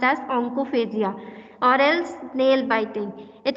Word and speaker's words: onychophagia: Talking about nail biting, it is also known as oncophagia or else nail biting. Onychophagia नहीं पढ़ते हैं. It is pronounced Y silent. It is pronounced as oncophagia or else nail biting.